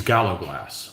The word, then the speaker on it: gallowglass: Jeffrey Smith, the Scots and English pronunciation is Gallowglass.